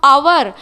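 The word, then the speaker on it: hour: देखो आवर जो स्पेलिंग है वो एच से शुरू होता है. एच जो है वो कॉन्सोनेंट है, पर बोलने में हम आवर अ बोलते हैं.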